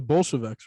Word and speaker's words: Bolsheviks: It's the Bolsheviks, right? Am I pronouncing that correctly?